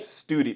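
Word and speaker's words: Stude: u d e it's it's somebody's name but we we pronounced it study the way my name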